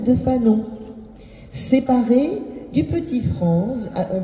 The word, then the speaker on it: Frantz: On peut observer que c'est l'inverse parce que quand on écrit France fan on met TZ et on prononce pas en Martinique le Z tandis que quand on écrit Franz Kafka onécrit pas de th mais on le prononce.